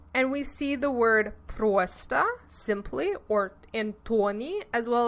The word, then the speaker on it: просто: When o is the emphasized syllable, we need to make our mouths into an O shape. But when it is not the emphasized syllable, as in Просто. We relax our lips and it becomes more of an ah sound.